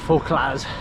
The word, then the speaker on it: Fauclaz: I don't think you pronounce the Z, Fauclaz.